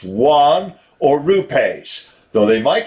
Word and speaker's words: yuan: have to pay in rubles one yuan is pronounced juan or rupays though they might decide to sell